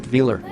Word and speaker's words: Velar: That makes sense for a secret prototype, and it does roll off the tongue quite luxuriously, with emphasis on the first syllable, but is Range Rover hiding something?